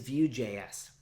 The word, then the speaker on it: Vue: So first up, what is VueJS? VueJS is a JavaScript framework for building reactive front-end interfaces. It's pronounced Vue, like mountain view or ocean view.